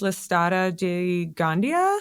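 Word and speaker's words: Listada de Gandía: I think it's pronounced Listata de Gandia Okay. or Gandia, something like that.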